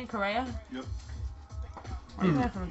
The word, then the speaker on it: Correa: Correa?